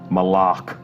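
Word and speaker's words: Malok: Official pronunciation confirmed. So Malak. if you hear anybody saying Malak, send them right here to the archive of this stream. Our design lead has told us it's Malak.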